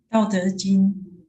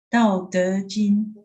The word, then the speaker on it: 道德经: The Taoist, their main book, I'm going to butcher the name. It's Te Ching. How do you say that? 道德经 Say it again. 道德经 Tao Te Ching.